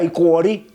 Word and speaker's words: Iporí: Se escribe Iporí, pero se pronuncia Icuorí.